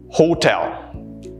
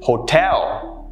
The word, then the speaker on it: hotel: you pronounce this as hotel no that's incorrect the correct pronunciation is hotel notice how the second syllable is what's stressed hotel i enjoyed my